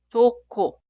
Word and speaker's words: 좋고: Por eso la primera frase se escribe así, pero suena 좋고, 좋고, 좋고.